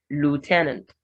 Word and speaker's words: lieutenant: Lieutenant in British English, Americans will go more of lieutenant.